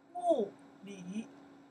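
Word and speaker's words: 物理: In Chinese, we pronounce the 数学. Shu xue. Shu xue. Okay. Physics. Physics in Chinese. Physics in Chinese. Wu li.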